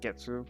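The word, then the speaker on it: げつ: the moon ski but in this case it's pronounced getsu because we it's just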